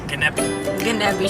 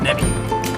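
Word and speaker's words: Gnedby: Gnebi shelves. Gnebi shelves. Which or is maybe what? the G is silent and then it's just Nebi.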